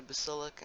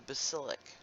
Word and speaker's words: basilic: into the basilic and it's just like if you like to cook you know the word basil the herb basil and it's spelled the same way just with an Icee at the end and this goes down